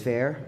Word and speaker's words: Fer: end of this well my name is fair or fur that's spelled f-e-r and that is